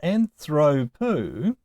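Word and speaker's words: ἀνθρώπου: But with ἀνθρωπου, the Omicron upsilon diphthong is always long. And so the accent can only go on any of the last two syllables, according to the general rule. So it started on the third to last syllable, and it will stay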